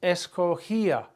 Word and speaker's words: escogía: I used to choose, escogía, GIA, accent on the I.